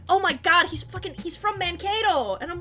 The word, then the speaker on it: Mankato: And I'm like, no, that's just how you say it! I mean, the accent was visible, though. That's how you say that word! It's just Mankato!